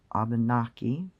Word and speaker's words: Abenaki: And when they are speaking in forms of ancient Abenaki, the word pronunciation for the language is slightly different. It's Abenaki. And instead of saying kwe for hello, it's kiwa.